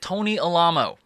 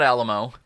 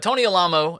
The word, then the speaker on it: Alamo: This week we're talking about Tony Alamo. No, it's not Alamo, okay? And I know I'm not a good source for how to pronounce it.